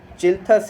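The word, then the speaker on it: Schilthuis: चिल्थस ही होगा इसका, S silent होगा, ठीक है।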